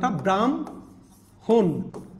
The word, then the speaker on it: ব্রাহ্মণ: এটা চেঞ্জ হয়ে যাবে ব্রাহ্মণ হ এর পরে ম আছে কারণ এটা যুক্ত বর্ণ ভাঙলে আমরা কি পাচ্ছি হ যোগ ম আপনি দেখেন এখন হয়ে যাবে ডাইরেক্ট উচ্চারণ ব্রাম হন দেখেন ব্রাম হন হটা পরে চলে গেছে মটা আগে